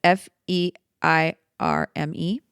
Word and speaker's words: Feirme: It's Feirme.